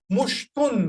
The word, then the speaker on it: مشط: So the book mentioned al-mushtu. So what is the word mentioned for comb? Mushtun actually. Al-mushtu, because there is also, you will not pronounce the tanween. Actually, it is mushtun.